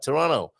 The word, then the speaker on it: Toronto: in toronto um some i think that's how you meant to say it there's a silent t at the end there right toronto uh some austrians brought